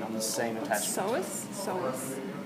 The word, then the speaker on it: psoas: Psoas. It's PSOA. Oh, okay, just so I can see it in my The head. P is silent, just like in pool.